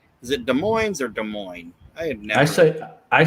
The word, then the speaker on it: Des Moines: Is it Des Moines or Des Moines? I had never. I say Des Moines. Okay. I don't pronounce the S.